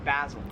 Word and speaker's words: basil: This plant right here, I would pronounce this, or Americans would pronounce this as basil. However, in Australia, it is pronounced basil.